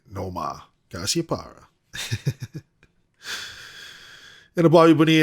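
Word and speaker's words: Nomar: the red sox theme you gotta know ma and yes that's how you say it no ma cassiopara and a bobby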